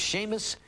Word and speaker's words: Seamus: His name is Seamus McSporin.